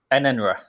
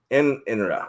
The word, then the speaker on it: Enenra: Enenra. Enra. Okay. I had one N. I didn't have two N's. I didn't have that Britishness to it.